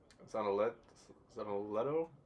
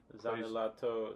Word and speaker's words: Zanelato: We're putting in Franco Zanoletto? Let me see. I butchered his name probably. Right here, 26. Franco Zanelato. Zanelato definitely sounds Italian.